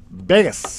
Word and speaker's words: Vegas: to pronounce it well the V the V is like it's almost like a and combined B Bas kind of like camoo ver